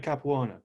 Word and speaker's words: Capuano: and things what did you learn from jack capuano if i'm pronouncing his name correct yeah you just said